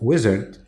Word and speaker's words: Uizard: Tony belelli is the CEO and co-founder of wizard which is spelled u i z a r d it's